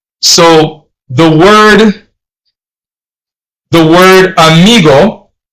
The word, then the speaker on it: amigo: So the word the word amigo amigo, not amigo.